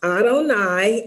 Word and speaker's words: Adonai: talk about today is Adonai and uh it's pronounced Adonai and Adonai means my Foundation or my Lord